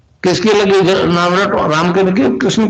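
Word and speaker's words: क्लीं: की मात्रा और बिंदी, उसका उच्चारण होगा क्लिंग। गा की ध्वनि निकलेगी पीछे।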